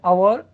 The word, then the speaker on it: hour: here the word hour, in the word hour, h is a silent letter, so that's why the word hour pronounced hour, so begin